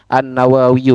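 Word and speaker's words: النووي: Terus almutawalliyu itu nisbat sebenarnya Pak kecuali memang kalau itu memang nama sepertinya ini sama dengan an-Nawawi gitu, Pak. An-Nawawiyu. Jadi seharusnya bacanya itu an-Nawawiyu ynya ya nisbat.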